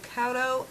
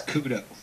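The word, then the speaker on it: Couto: I hope I pronounce this right. Cauto and Cale Kelly.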